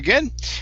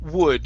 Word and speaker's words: would: okay this word here is would instead of good okay you added a g at the beginning of the word okay so instead of